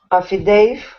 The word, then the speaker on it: affidavit: Often mispronounced as affidavit. Affidavit. So don't say affidavit. Okay, that's not correct. Rebecca, how should it be pronounced? Do you think? Hello, Rebecca? Sorry, yeah, I forgot the microphone. Affidavit.